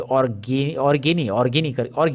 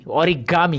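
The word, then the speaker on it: origami: यहाँ पे आपको इंटरेस्टिंग और है, ये वाला देखिए, ऑर्गेमी, सॉरी, ओरिगामी, ये मुझे बोलना है। Okay, now आई गॉट the correct pronunciation.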